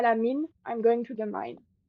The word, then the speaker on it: mine: So mine is min because I is okay. pronounced Mean. E, so min.